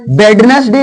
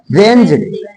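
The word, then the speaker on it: Wednesday: वेज वेज means किल अब इसको बडनेस डे नहीं होता वेंज डे वेंज डे वेंज डे यहां एस को जा बोला जाएगा अभी इसके बाद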